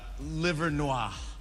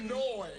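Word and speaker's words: Livernois: Jimmy, how do you pronounce this word? I would probably say uh liver noir.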